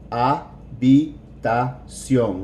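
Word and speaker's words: habitación: el número de su ah be da-jung remember the H is silent vitas young good to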